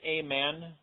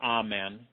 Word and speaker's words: amen: You can pronounce the word amen, or amen, equals Amun-Ra, or Amun-Ra, which was an Egyptian deity.